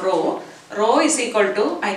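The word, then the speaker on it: rho: is uh name is row r h o row it is pronounced so this row into length by area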